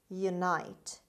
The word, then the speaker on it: unite: horde word number eight unite unite unite it's a verb the stress is on n on the second syllable unite means join together